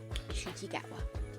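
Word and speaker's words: Ncuti Gatwa: Shooty Gatwa. N and C make a shh noise.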